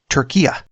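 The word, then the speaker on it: Türkiye: And a lot of people wouldn't consider that Eastern Europe, just like a lot of people would say it's pronounced Turkiya.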